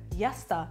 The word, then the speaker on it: yasta: Yasta. Yasta. Yasta. Is it like fast, maybe? Something quick? No? No. People usually say it like yasta.